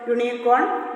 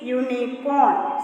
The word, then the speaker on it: unicorn: Because the pronunciation of U is YU, and we know that Y is a consonant. See, unicorn.